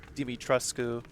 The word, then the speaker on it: Dimitrescu: I'm only going by like the Capcom pronunciation. I know it's like actually pronounced like Dimitrescu.